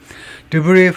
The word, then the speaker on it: debris: Debris from suspected Russian drones. Debris, S 발음 안 합니다. 왜냐? 프랑스어이기 때문에 잔해, 의심되는 러시아 드론들로부터의 잔해가 has been found in Romania before.